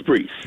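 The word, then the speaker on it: Breece: does he pronounce it bryce no it's breeze freeze rhymes with greece but bruce hall also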